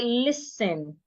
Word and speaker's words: listen: The letter T in that word should not be heard. It is silent. So we should not say listening. We say listen.